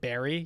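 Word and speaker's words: Barre: forces me to finish things big fan they pronounce it Barry you're kidding you're messing with me oh in in the town in Massachusetts they pronounce it Barry yeah yeah that makes sense that checks out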